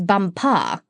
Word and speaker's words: Bumpa: She became his chief wife, and is now known out there as the Crown Princess Bumpa. You accent the last syllable."